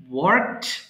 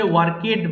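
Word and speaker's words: worked: ওয়ার্ক, কাজ করা, ওয়ার্ক, ওয়ার্কড, ওয়ার্কড। এটা কিন্তু ভুলে ওয়ার্কেড বলা যাবে না। হ্যাঁ, কেইডি থাকলেও আমাদেরকে ওয়ার্কড উচ্চারণ করতে হবে।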